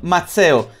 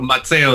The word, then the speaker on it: Mazzeo: Mazzeo. Mazzeo is an Italian name. Yeah, you pronounced it correctly. Usually people say Mazzeo or Mazzeo. Mazzeo is correct.